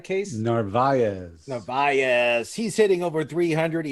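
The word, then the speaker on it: Narváez: It's Omar Narves. Did I say it right, Case? Narvaez.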